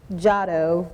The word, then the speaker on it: Giotto: You said it the way I would have said it, had I not had the pronunciation, but it's correct. It's Giotto, but Giotto is how it's phonetically spelled.